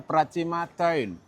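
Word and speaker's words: Pracima Tuin: Jadi sebetulnya ini kombinasi dari dua bahasa, bahasa Jawa kuno dan juga bahasa Belanda, Pak. Oh jadi pengucapannya memang pracima toin.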